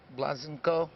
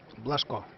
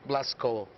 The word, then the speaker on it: Blaško: Blazenko, is that how you say it? Blaško. Blaško.